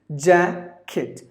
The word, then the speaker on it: jacket: is jacket ja kit there are only two syllables and the first syllable is stressed jab kit and there's slight difference with the pronunciation just imagine that there is an eye in between K and T it's like kicked jacket jacket is something